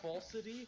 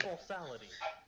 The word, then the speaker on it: falsity: You added like an extra syllable to that word. You see, it's to cause drama to it. To make it stand out more. I mean, it was falsity? You said falsality.